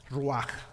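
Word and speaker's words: רוח: Yo no sé escribir hebreo, pero así es como se pronuncia, raj, ¿verdad?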